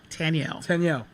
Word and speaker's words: Taniel: TANIEL.